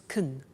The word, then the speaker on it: can: can speak Spanish now notice the pronunciation of can becomes Kun she can speak Spanish